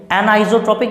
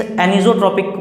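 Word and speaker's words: anisotropic: होंगे, एक आइसोट्रॉपिक और एक एनाइसोट्रॉपिक, जिनको कुछ स्टूडेंट्स एनिसोट्रॉपिक प्रॉपर्टी भी प्रोनाउंसिएट करते, तो जो भी हैं आइसोट्रॉपिक एंड एनाइसोट्रॉपिक, ये प्रॉपर्टीज़ क्या हैं, ठीक है।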